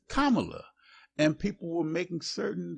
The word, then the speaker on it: Kamala: making certain that everybody understood how to even pronounce her name right correctly it's not camela it's Kamala and people were making certain that they gave